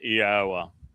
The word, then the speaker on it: Yahweh: God gave us the verbal basis. He told Moshe his name was based upon haya. That tells you how to pronounce three of the four letters. Haya. And then all one needs